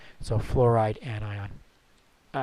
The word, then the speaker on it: fluoride: I FL UO are don't spell it oh you are that'd be wrong it's not flour it's flora so fluoride anion all right now